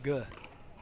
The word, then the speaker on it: Gay: Jay DeVilliers versus Augie Gay. Augie Guh. That's how he pronounced his name.